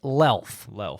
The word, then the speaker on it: Luelf: Yeah, and if you're looking for me, it looks like Luelf because it's spelled Luelf as in Frank, but it's pronounced Lelf, like self.